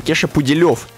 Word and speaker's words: Кеша Пуделев: Кеша Пуделев. Ударение на У.